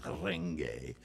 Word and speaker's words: Renge: It's kind of a rolled R there. It's a lot like Spanish or Latin language. Renge. Not renge like Americans say it, in the back of your throat. Renge. Renge. Just roll it a little bit.